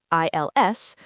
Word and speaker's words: ils: females, you use il, i l s. For a group of all females, you use elles, e l l e s. So, ils mangent or elles mangent. The s at the end is silent in both.